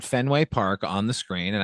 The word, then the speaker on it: Fenway: ever done that at Fenway." like his emphasis is totally on the wrong like it should have been fenway the hard syllable on the first syllable but he says fenway which tells me that